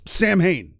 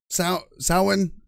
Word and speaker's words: Samhain: stretch and yes it's Sam Hayne it's pronounced phonetically even if Danzig was incorrect when he made the band that's what he called it so in sowen I don't know you're